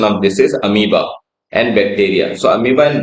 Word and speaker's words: amoeba: जब मैं छोटा था इसको अमीबा पढ़ता था, just because of its spelling, but the right pronunciation of this is amoeba.